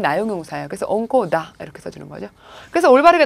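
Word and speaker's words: 温厚: 이거는 옹코라고 읽어주세요. 옹코.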